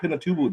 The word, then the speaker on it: Pinatubo: I was more fascinated with, like an hour west in Mount Pinatubo. The did I pronounce that correctly? Mount Pinatubo. Yeah. Okay, Mount Pinatubo, the active volcano where the indigenous people, the Aita tribe, live.